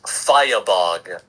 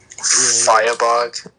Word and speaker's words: Firebug: That's what it looks like written, but pronounced it's Firebog. Mm-hmm. Firebog?